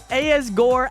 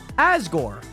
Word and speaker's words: Asgore: Nationers also Asgore. Asore, the name is pronounced like the back part. Oh, Asgore. Like Asgar, but Asgore.